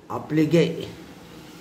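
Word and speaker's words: appliqué: You want to pronounce as Applique, a type of needle work in which small pieces of fabric are sewn.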